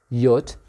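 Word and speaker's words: Jot: fair gessen this letter in english you say j but in german we call it yat yot is is always a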